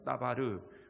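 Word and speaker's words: דבר: 마리 라는 단어가 나옵니다 r2 제 말은 히브리어로 따 바르 이렇게 부릅니다 다바르 근데 따 바르는 사실 언제 가장 많이 사용되는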